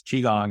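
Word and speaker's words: qigong: about they're like it's all kinds of funny pronunciations but yes chiong I um actually had my first experience with chiong uh in um when I was young when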